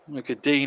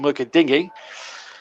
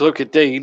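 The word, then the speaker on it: Lucas Digne: look at dean is the correct pronunciation i'm told although some commentators still call him look at dingy but it's look at dean i'm told and i'm going with the perception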